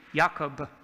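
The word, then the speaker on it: יעקב: This is how you say Jacob, Jacob.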